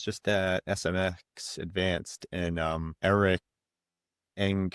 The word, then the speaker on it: Enge: And another thing I wanted to ask you about too, I was just at SMX Advanced and Eric Eng, is that how you say his name? Eric Enga? Yeah.